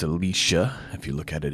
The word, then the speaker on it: Elisha: Alicia means God is salvation and it is pronounced Alicia if you look at it in Hebrew not Elijah's you'll hear many say it it's Ali Shah Alicia which means God is salvation but she